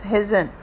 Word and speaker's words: Hesione: So virgin tribute has been said for Hesione, but the correct pronunciation for the name is Hazen.